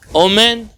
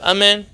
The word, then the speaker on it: Amen: are famous for it, pronounced the kamatz always as an O. Harav Peretz, when he prays privately in his house, he says, Omen, like that, instead of Amen.